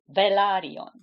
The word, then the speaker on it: Velaryon: country the place is Valia the house is valion okay another one I heard pronounced in different ways isas Dragon they say